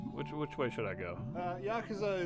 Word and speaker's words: Yakuza: Yakuza is the correct pronunciation.